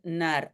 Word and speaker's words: naar: OK, donc, we rijden naar Bruxelles devient, pardon, we rijden naar Bruxelles. We rijden, et je dois dire aussi, donc le R de naar disparaît aussi légèrement, même si ce n'est pas de ça que je parle ici.